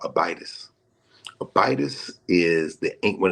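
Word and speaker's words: Abydos: a y d oos Some people prefer to pronounce it abidos the ancient name Abdu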